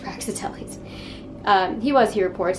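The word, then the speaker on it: Praxiteles: gallery he saw the fawn of praxitelis i hope it's pronounced praxitellis uh he was he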